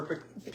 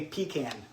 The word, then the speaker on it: pecan: I was listening to a radio broadcast about this yesterday, and they, most people will say pecan. But if you say it like pecan, then it's like you're saying, tomato.